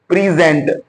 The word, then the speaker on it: present: In the first word we saw the word was present because the stress was over here on the second part of, in the second syllable. The word is comprising of two syllables. दो syllables पर मुश्तमिल है, एक है प्री और दूसरा है gent. और ये हमें स्ट्रेस बता रही है कि दूसरे हिस्से को हमने इनहेंस करना है, एम्पलीफाई करना है.